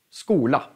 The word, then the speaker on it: skola: Ja, då blir det bara sk, skola till exempel. Skola, ska, skål.